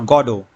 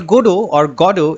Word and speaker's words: Godot: Now some opt for stressing the first syllable, that is God-O, which emphasizes the name's link to God. There are others who choose to stress on the second syllable, that is God-O, Godot, right?